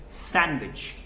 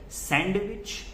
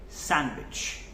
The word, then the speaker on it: sandwich: So we call it sandwich. Again, D is silent here. We do not call it sandwich. We call it sandwich.